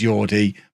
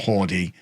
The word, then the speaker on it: Jordi: by the comments section it is yordi because jordi alba apparently has a catalan name rather than a spanish name so it becomes jordi not hardy so i apologize for